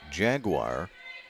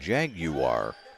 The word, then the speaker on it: jaguar: asked the century coaches if the school prefers jaguar as we normally pronounce it here in america or if they like the more english pronunciation jag you are probably jaguars century with